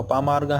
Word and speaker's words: अपामार्ग: अपामार्गा भी कहते हैं इसका जो शुद्ध उच्चारण है वो अपामार्गा है और क्षेत्रीय भाषा में